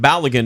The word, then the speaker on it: Balogun: By the way, we now have the pronunciation correct. Balogun is what I hear now. it's it's like laid again.